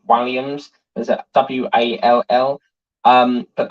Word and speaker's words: Walliams: way you got the David walliams you said Williams but it's actually pronounced walliams there's a w-a-l-l um but that book you